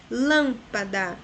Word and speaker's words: lâmpada: Lâmpada, de trás para frente é a terceira, a antepenúltima, portanto ela é proparoxítona.